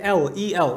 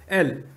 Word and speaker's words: El: But the people of Canaan, the Canaanites, they were actually worshippers of another god named El. That's how it's pronounced. El.